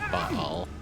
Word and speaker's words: Baal: Oh, Ball. Ball was actually a little challenging. That's cool. Or Baal, as most of the voice actors at least pronounce it.